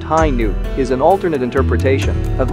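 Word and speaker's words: Hi-ν: the RX 93 v2 hi nu gundam pronounced high noon is an alternate interpretation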